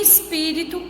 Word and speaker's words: espírito: E em espírito, a sílaba tônica é o pi e ela é a antepenúltima, ou seja, antes da última sílaba.